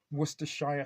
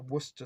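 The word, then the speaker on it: Worcestershire: imagine I can imagine in um wor Shia sauce which funny enough I do as default of start saying sometimes I've been in the kitchen sometimes you ask for Worster sauce people like look at you and even though you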